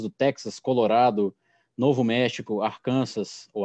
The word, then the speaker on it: Arkansas: Texas, Colorado, Novo México, Arkansas, ou Arkansas, como eles pronunciam aqui, Kansas e Louisiana.